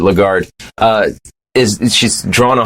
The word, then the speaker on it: Lagarde: bank uh their president christine lagarde legato day i don't know she might be swiss uh that's good pronounce it lagarde uh is she's drawn